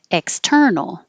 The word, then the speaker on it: external: external and 27 internal so they have the same stress pattern so the x and the in are not stressed and will be shorter and will go by quickly and probably harder to notice but in context hopefully